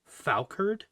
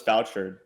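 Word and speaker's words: fauchard: was how he spit he pronounced that weapon falcard i thought it was vouchered i've always said fausherd or foucault like i've always said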